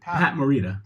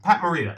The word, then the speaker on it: Morita: Pat Morita. Pat Morita.